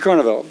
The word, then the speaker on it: Carnevale: just to say that mr. Carnevale if I have your last name spelled it pronounced correctly a little bit like carnivals so anyway what it